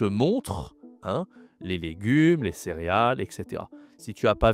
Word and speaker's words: céréale: C'est la céréale.